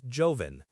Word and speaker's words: joven: For young, we use joven, J-O-V-E-N.